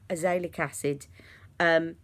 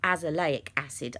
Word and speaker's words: azelaic acid: put some details of azoic acid sorry it's not a sailor Cassidy's azelaic acid I keep pronouncing that wrong this is from the